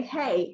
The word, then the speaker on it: he: Actually in Lenape, if you want to say hello, you say hey, it's spelled H-E.